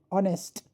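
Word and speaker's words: honest: ऑनेस्ट H silent है।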